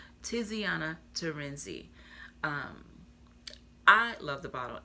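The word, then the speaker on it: Tiziana Terenzi: is supposed to do a um let me pronounce her name right ter Iana terenzi Tiana terenzi um the C I don't know I've never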